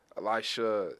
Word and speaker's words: Elisha: played did i say your first name right elisha yes sir yeah i think he did yeah